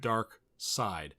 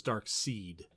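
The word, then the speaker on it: Darkseid: that name so every time i've heard it pronounced on the source material they said dark side sorry i first saw it for years i thought it was dark seed okay because you spell with a [ __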